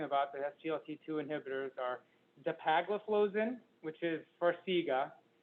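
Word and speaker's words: dapagliflozin: to be talking about the sglt2 inhibitors are dipagliflozin which is farsiga empagliflozin which is uh giardians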